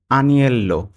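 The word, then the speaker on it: agnello: কিছু দেখো এরপরে আসবে আনিয়েল্লো আনিয়েল আনিয়েল ঠিক আছে আনিয়েল অর্থ ভেড়ার মাংস এখানে আনিয়েল উচ্চারণটা জি এর উচ্চারণটা উজ্জ্ব থাকবে জি এর উচ্চারণটা আসবে না তাহলে আনিলো অর্থ ভেড়ার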